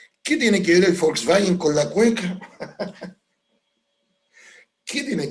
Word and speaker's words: Volkswagen: Porque en alemán la B corta o V se pronuncia como nuestra F. O sea, en alemán no es Volkswagen, como dice la gente en Chile, es Volkswagen, Volkswagen.